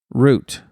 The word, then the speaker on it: route: Please ensure you pronounce the word route as us Brits would say, root.